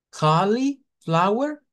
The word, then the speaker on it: cauliflower: cauliflower a decir cauliflower, porque estamos usando el sonido de una I, que sí, es cierto, ahí hay una I escrita, pero recuerden que no se pronuncia lo que está escrito, se pronuncia el fonema. Entonces, el fonema me dice de que esta es una schwa y no va a sonar a li, va a sonar a lo.